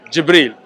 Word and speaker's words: Jibril: angel how do you say it in Arabic jibril no no no it was his title Malik